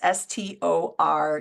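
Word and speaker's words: storge: is romantic passionate physical love stor and that's s t o r GE but it's pronounced stor that's that family love that we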